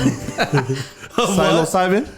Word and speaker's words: psilocybin: Pronounce it. Some psilocybin.